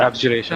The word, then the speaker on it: abjuration: to be of, I don't know how to pronounce this. Abjuration? Is that how you- Abjuration.